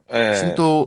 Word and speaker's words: 신도: 있잖아요 아 아 아 이거 신도라고 신또 신또야 좀 세게 발음해야 좀 차이가 있 앞으로 좀 떠로 가고